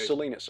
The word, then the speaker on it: Salinas: dryer Matt Miraz and Mark Salinas Bolinas right Salinas okay yeah like Salinas California duh so how did your